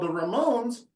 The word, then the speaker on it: Ramone: e on my certificate there's no e on my name but if you pronounce it Like a Rock grp From New York from the 70s called The Ramones you got it right